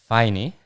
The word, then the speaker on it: Faine: So I was just trying to get this pronunciation right, but it's Faine Yes.